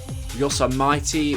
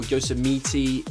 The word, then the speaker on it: Yosemite: new track Yosamite or it's actually pronounced Yosamitey or Yosamiti or something.